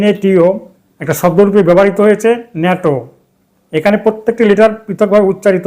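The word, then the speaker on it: NATO: এখানে abbreviation N এটিও একটা শব্দরূপে ব্যবহৃত হয়েছে ন্যাটো। এখানে প্রত্যেকটি লেটার পৃথকভাবে উচ্চারিত হবে না এন এ টিও নয় ন্যাটো এই ন্যাটো উচ্চারণে প্রথমে ভায়ল সাউন্ড নেই সুতরাং এর পূর্বে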